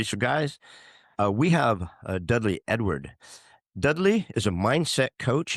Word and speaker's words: Edouard: Is Dudley Edward. I know I'm not saying that correctly, but for stupid Americans, it's pronounced Dudley Edward.